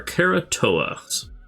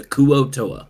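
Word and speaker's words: kuo-toa: uh these we're C this is our kerat TOA and I don't you you you pronounce it what the kuo TOA you got I don't know why I put an r in there that's just how I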